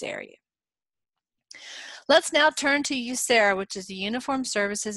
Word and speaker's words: USERRA: The way I remember how to pronounce this one is I say the word you, and then Sarah, like the name Sarah.